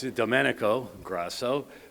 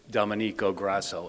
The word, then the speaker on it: Domenico Grasso: So it's Domenico Grasso, but I saw so many people stumble over it and, I typically joke because the most common mispronunciation is Domenico Grasso, and I, don't mind that on Saint Patrick's Day, Domenico Grasso. I can go by that.